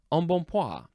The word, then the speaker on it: embonpoint: And of course, the N sounds on at the end of each syllable. They are the superscript in the pronunciation guide. So they're small. You barely say them at all.